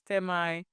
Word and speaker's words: Termii: And there's Temai, it's spelled TERMII.